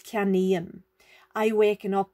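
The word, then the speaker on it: ceannaím: to say I buy it's not ki annum it's kami and I waken up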